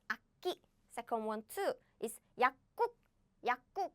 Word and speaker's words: 약국: However, we don't pronounce this way because if you pronounce it quickly, naturally you will pronounce like this. 약. No. Oh no, I deleted all the letters. It's okay. 약국, nah. No. This becomes 국 simply because this and this bumped, smashed, crashed. So the pronunciation becomes like 약국, 약국.